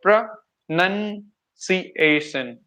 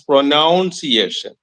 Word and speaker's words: pronunciation: like pronunciation okay pronunciation see why people pronounce this as pronunciation there is a word called pronoun in English grammar pronoun that pronoun and people are connecting this word pronoun with pronunciation that is the reason why people pronounce this as pronounciation right exactly yeah that's what